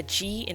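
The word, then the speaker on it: 가: Now, 기역 makes a sound between a G and a K. It's like a hard G and a soft K sound. So between those 2 sounds. So for example, if I were to put it with A, it would be ga.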